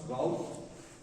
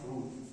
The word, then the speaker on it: Routh: Some people pronounce ROUTH, some root. Both are correct. We don't know exact pronunciation what his name was, but both of them is correct.